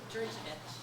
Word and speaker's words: Georgovich: How do you pronounce it? Georgovich. Georgovich. These are silent.